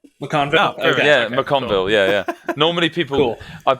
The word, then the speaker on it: MacConville: you nailed it we can't do it yeah mcconville yeah yeah normally people i've been called mcgonagall